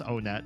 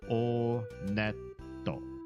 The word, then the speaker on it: Onet: It is pronounced Onet. I did check the Japanese pronunciation. And in Japanese, when you go to this first town, they pronounce it Oneto. Oneto.